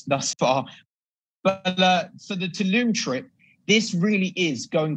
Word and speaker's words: Tulum: Also, with the Tulum trip, I know that. How do you say it, Josh? Do you say Tulum?